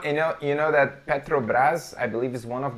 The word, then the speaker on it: Petrobras: is watching us you know how would you pronounce this brand Petrobras Petrobras Petrobras yeah here we say Petrobras Petrobras yeah it's all about the tongue I